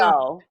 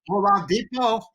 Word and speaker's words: Oladipo: Oh, how do we pronounce his name from Indiana? Victor Oladipo. Oladipo.